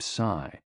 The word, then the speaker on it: Si: The 6 sounds are XU, pronounced like shh, with a deep sigh, which is associated with the liver, He, pronounced like her, with a yawn, which is associated with the heart. Si, pronounced like sir, with a slow exhale, which is associated with the lungs.